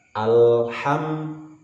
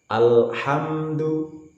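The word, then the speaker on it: الحمد لله: Alhamdulillah dihilangkan Alhamdulillah dalamnya diucapkan dengan menahan desisan karena adalah huruf yang bersifat jahar yang ciri utamanya adalah dengan menahan besi jadi tidak tepat apabila diucapkan Alhamdulillah kemudian bedakan dengan yang lain dengan Hamzah a jangan terbaca Amin atau ngalamin ini tidak tepat ambil makhroj dari tenggorokan Alhamdulillah sampai di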